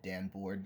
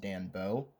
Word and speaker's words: Danboard: I did notice while editing I said Dan Board like a thousand times. That's not the right pronunciation. It's pronounced Danbo.